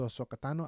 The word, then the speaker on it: Ahsoka Tano: I have no emotional attachment to Ahsoka Tano.